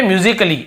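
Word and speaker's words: musically: वाली बात है तो ये म्यूजिकली ऐसे बोलते हैं म्यूजिकली तो यहां पर भी देखिए आप म्यूजिकली तो यहां पे ए का उच्चारण नहीं हो रहा है और देखिए लास्ट में ए के बाद डबल एल वाई हो वहां पे नहीं पढ़ते हैं और देखिए फिजिकली हम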